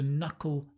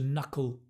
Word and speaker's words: knuckle: Right now, a nice little phrasal verb here is to knuckle down. To knuckle down. Hard to pronounce, I know. No. Fun to pronounce. Knuckle. It's the dark L.